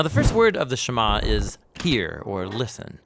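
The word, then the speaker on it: שמע: first word of the shama is hear or listen which in Hebrew is pronounced shama that's where the prayer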